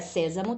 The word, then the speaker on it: sésamo: Olha, sésamo também tem acento, então tá fácil descobrirmos, mas vamos dividi-la para ficar mais, para visualizarmos melhor, né?